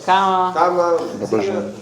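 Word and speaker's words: Kamma: Kama.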